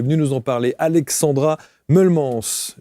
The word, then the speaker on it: Meulemans: nous en parler, Alexandra Mullems. Je l'ai prononcé à la francophone.